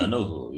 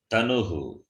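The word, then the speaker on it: तनुः: Danuhu, it is Tanuhu. Tanuhu, sorry. Tanuhu, Tanu, Tanavaha. That If you is, say Dhanuhu, sorry. Dhanu becomes Dhanush, bow. Okay. If you change the pronunciation, the meaning becomes different. Tanu is body, Dhanu is Dhanush.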